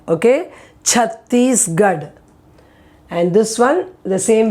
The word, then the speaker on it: Chhattisgarh: pressure on that first letter there, that first syllable part. So it is chair. Now this one is a place in India, Chhattisgarh. Okay, Chhattisgarh.